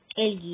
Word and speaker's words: algae: एल्गी, यहाँ पर जो ए है वो साइलेंट है, एल्गी होता है।